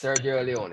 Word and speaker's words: Sergio Leone: Sergio Leone. That's how we pronounce it.